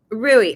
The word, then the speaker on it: Rui: Rui. Okay, I asked him the other day, and then I kept saying it, Rue.